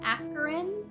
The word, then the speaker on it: Akron: It's pronounced Akron.